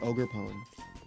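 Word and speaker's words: Ogerpon: pchegeist then I think we have to say ogre pone um archaladon we talked about okay hydrappel hydra or hydra Apple.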